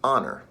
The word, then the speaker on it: honor: this the word is honor h-o-n-o-r the h is silent and so if you